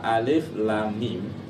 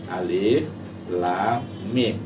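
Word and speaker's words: الم: Jadi hurufnya itu dibaca aslinya. Itu kan alif lam mim ya. Alif lam mim. Jadi membacanya huruf aslinya alif lam mim.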